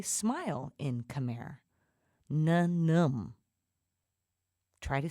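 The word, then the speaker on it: ញញឹម: Na-num.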